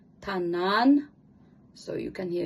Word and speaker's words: tanana: It's sort of softly say like tanan.